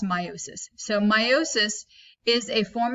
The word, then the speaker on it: meiosis: cell division is called meiosis okay so it's pronounced meiosis I often say meiosis just because when I